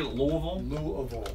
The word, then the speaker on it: Louisville: I was talking to my brother yesterday back in Louisville.